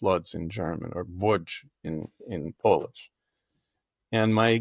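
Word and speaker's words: Łódź: of the town of Voj in Poland or Lots in it's pronounced lots in German or Voj in in Polish and my greatgrandfather his name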